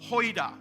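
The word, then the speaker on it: οἶδα: But the first no is the word hoida, O-I-D-A. Pronounced hoida.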